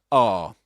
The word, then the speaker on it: are: This in British English in isolation is R. R. That's the way you pronounce it. You don't say R as in American English.